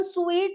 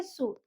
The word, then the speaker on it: suit: जैसे कि SUIT, इसको हम स्वीट नहीं बोलेंगे, इसको हम बोलेंगे सूट।